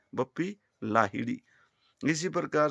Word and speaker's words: लाहिड़ी: ऐसे ही महान संगीतकार बप्पी लाहिड़ी है वो। हम उनको अंग्रेजी की वजह से बप्पी लहरी बोलते हैं। लहरी कोई गोत्र ही नहीं होता। वो लाहिड़ी है। बप्पी लाहिड़ी।